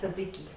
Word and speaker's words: tzatziki: And that's tzatziki.